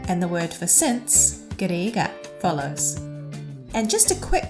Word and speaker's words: ကတည်းက: Even though the first and last consonant of this word, ga, is the same, the sound is slightly different. Can you hear that the